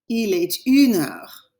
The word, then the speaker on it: Il est une heure: Notice I'm pronouncing that T. Il est une heure. It's because une starts with a vowel, and we can't have two vowel sounds next to each other. We can't put a and une next to each other. We have to pronounce the T.